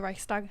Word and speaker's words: Reichstag: No, Nazi Germany, the burning of the how do you pronounce it? Reichstag. The Reichstag.